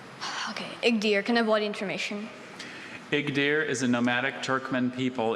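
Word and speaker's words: Igdyr: Igdir. I-G-D-Y-R. Igdir.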